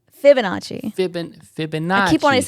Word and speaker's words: Fibonacci: The Liminaci sequence, or how do you pronounce it? Iminachi? Fibonacci.